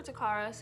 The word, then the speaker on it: Takara: and yeah but um yeah that's it for takaras his name is spelled t-a-k-a-r-a um i call him by his